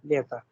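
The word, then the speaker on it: лето: wherever you have the stress sign at end of the word, if you have O and the stress sign is falling on some other vowel, then the pronunciation of O would be A.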